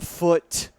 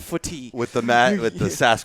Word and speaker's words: Foote: Like, why is there an E at the end of foot? And why is it pronounced only foot, not footy?